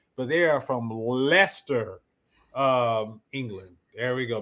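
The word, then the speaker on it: Leicester: They are from It doesn't look like Lester. It's got some C's, E, I's, and S and all that, but they are from Lester, um, England.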